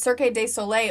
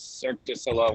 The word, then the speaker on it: Cirque du Soleil: had mgm graham presents cirque de soleil earth wind and fire wait rachel the correct way to pronounce it is cirque du soleil moon frye fillet moon